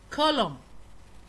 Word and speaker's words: column: column column تيركا عمود.